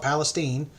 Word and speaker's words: Palestine: um and Florence uh Palestine Texas spelled Palestine but people call it Palestine um is in the